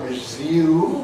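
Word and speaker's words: résumé: And words like resume, where we generally retain it, though with some variability, and the Americans drop it and say resume.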